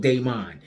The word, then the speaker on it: Damon: uh the movie where his name is spelled as Damon but he calls himself he's called Daemon you know what I